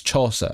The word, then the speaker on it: Chaucer: Is it I've never seen it heard it pronounced aloud. It's Chaucser.